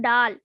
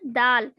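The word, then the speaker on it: दाल: This is not dal. This is dal. Da will be pronounced like da.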